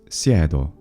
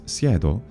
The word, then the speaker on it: siedo: But whereas the Latin ego form is sedeo, in Italian it's siedo. So here, the root is accented. This is a rhizotonic word, and it's siedo because it's a short e in an open syllable.